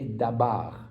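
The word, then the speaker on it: דבר: même une chose alors ce DBR si on met le a pour pour trouver le verbe ça va donner d'bar maintenant le B peut aussi se prononcer V tout en étant bien la lettre B bête hein vous voyz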